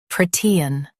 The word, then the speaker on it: protean: Protean. Stress pro in US, T in UK.